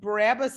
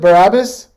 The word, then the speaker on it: Barabbas: something so i thought it was interesting that barabbas is named jesus barabbas i didn't i never